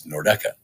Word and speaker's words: Nordeca: the correct pronunciation is Nordeca. If you are a member of the Columbus media or some other talking head around the Central Ohio region, it's Nordec.